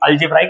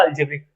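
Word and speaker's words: algebraic: अलजेब्राइक लिखा लेकिन बोलने का अलजेब्रिक।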